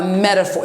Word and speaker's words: metaphor: Please take note about a metaphor. It's called metaphor. PH en anglais, ça se prononce comme un F. So it's a metaphor, but it's a PH, comme pharmacie, PH. So it's F.